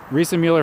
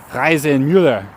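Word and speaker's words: Riese & Müller: Where is Rhysa Mueller from? I guess I pronounce it wrong cuz in Germany they're from Germany and in Germany it would be Ryzen Mueller.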